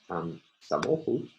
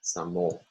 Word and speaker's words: samochód: And our last example, the word for car, samochód, has three syllables.